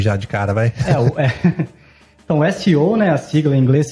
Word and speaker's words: SEO: Fala CEO. Então, vale a pena frisar aqui que é a pronúncia das letras separadamente em inglês, né? Que é o S, e o E e o O.